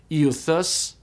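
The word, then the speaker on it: εὐθύς: And then the last two diphthongs, epsilon upsilon and eta upsilon, are pronounced the same way. They're pronounced u, like in feud. And so the Greek word for immediately is pronounced euthus, euthus.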